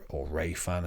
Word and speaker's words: Remphan: Chiun there, and Remphan, or Rayfan as it's sometimes pronounced.